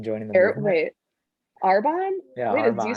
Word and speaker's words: Arbonne: You have no interest in joining Arboni? In joining the Air, movement? wait, Arbonne?